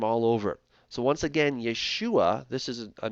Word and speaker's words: Yeshua: seen valve ein and the way that you pronounce that is Yeshua that's it Yeshua all right so Yeshua